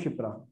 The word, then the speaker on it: शिप्रा: ये साइलेंट है इसमें, श क श होता ना, श, शिप्रा।